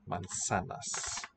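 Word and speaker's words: manzanas: why you drink water so we spell it with a z but it sounds like our s voiceless mansanas to you adapt spanish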